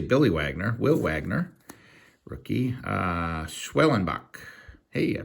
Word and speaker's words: Schwellenbach: Schwellenbach. Hey, I pronounced it right.